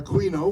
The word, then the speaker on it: Aquino: And this year our World War II reenactment is Aquino, the Battle of Aquino, or Aquino, we have different pronunciations, and that's the 80th anniversary.